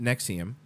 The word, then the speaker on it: NXIVM: face of opposition to Nexium pronounced Nexium as a v virtually